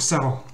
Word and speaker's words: Sarah: Donc pareil pour Sarah. En fait, il faut prononcer Sarah. C'est son E. Sarah. Parce que quand le A il se trouve en fin de mot, il a tendance à se prononcer E.